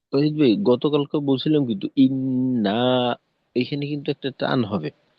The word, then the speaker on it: إن: আর শেষে ইন্না আযাবাকা, ইন্না, এই নুনে আবার টান হবে না।